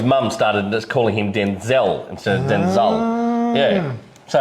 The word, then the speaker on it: Denzel: Denzel is not Denzel, it's Denzel. He was named after his father, but it used to get confusing. So his mum started just calling him Denzel instead of Denzel.